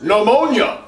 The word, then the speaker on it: pneumonia: The P is silent.